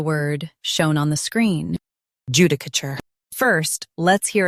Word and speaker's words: judicature: Judicature. Judicature. US ends with cur. UK ends with chur.